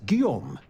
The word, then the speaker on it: Guillaume: oh where are my manners my name is Guillaume by the way it's a pleasure to make your acquaintance that's how you pronounce that so very trusting person you just